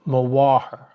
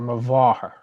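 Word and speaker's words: mháthair: So an M and a H is pronounced as a W or a V. So mawaher or mavaher, my mother. B and a H, same.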